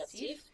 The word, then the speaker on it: digestif: So traditionally you would have it as like a digestif with fish.